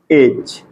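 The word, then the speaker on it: edge: जैसे कोई word EDG, ठीक है, EDG, तो डी के बाद आपको जी दिख रहा है। ठीक है, अगर आपको डी के बाद जी दिख रहा है तो इसका मतलब कि यहाँ पे डी का उच्चारण नहीं करना, डी का प्रोनाउंसिएशन नहीं करना है। डी यहाँ पे बिल्कुल क्या है, साइलेंट है। ठीक है, यहाँ पे इसको क्या पढ़ेंगे, एज।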